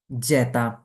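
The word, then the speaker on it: zeta: পরবর্তী যেটা সেটা হচ্ছে খেয়াল করুন জেতা কি খেয়াল করুন আমার সাথে প্রোনাউন্সিয়েশন করার চেষ্টা করুন জেতা জেতা তো আমাদের আজকের ক্লাসটা শুধু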